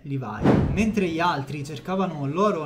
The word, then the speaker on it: Levi: Levis Però ovviamente l'imprenditore Il nome dell'imprenditore è livai Mentre gli altri cercavano loro nelle miniere lui